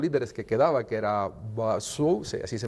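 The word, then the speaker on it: Bazoum: de los pocos líderes que quedaba, que era Basu, así se pronuncia el nombre, y El anterior el anterior presidente, presidente.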